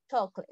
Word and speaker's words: chocolate: Ok, very good, chocolate. Chocolate es otra palabra que también va en singular, ¿no? Se escribe igual que en español, pero se pronuncia diferente, ¿no?